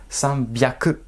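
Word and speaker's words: 三百: San, hyaku, eh ben non. Prononciation exceptionnelle. Sanbyaku.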